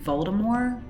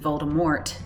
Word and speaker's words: Voldemort: it to be pronounced it doesn't have a hard T on the end the guy says Baltimore all the way up to like the Goblet of Fire I think the best last that's the last book he pronounces it like that but yeah the movies went with Voldemort but I think it's supposed to be like a French pronunciation Baltimore anyway I feel like